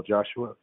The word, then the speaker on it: Joshua: joshua hello sir please state your name and spell it for the record joshua last names j-o-s-h-u-a and we're here regarding